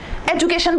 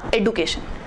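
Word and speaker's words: education: एजुकेशन बोल रहे हैं तो चल ही रहा है एजुकेशन, जबकि एग्जैक्ट वर्ड है उसका एडुकेशन जी।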